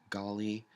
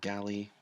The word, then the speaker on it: Gali: this is the uh skeletal golly or Galley depending on how you want to pronounce it in your region I guess it has